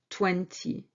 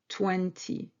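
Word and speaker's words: vingt: And finally, 20. 20, which is 20. 20. 20 has particular spelling, which is V-I-N-G-T. G-T, these last two letters are silent.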